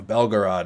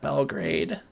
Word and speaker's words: Belgorod: Belgorod, right? The trolls usually will be like, he's saying it wrong. He's saying Belgrade. It's not Belgrade.